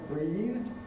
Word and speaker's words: breathed: How do we know it's breathed? Because breathe ends in a voiced consonant, not a D sound. It doesn't therefore trigger id. You don't get breathed.